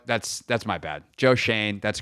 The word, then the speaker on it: Schoen: that's my bad Joe Shane that's correct even though it's spelled like shown it is pronounced Shane so I my bad